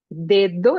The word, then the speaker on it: dedo: La pronunciación es diferente. Nosotros tenemos dedo en portugués, pero la segunda D es un poco más débil, es dedo en castellano.